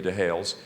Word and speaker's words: Dehailes: Lydia married to Hales now it's spelled d-e-h-a-i-l-e-s Lydia de hails and she actually is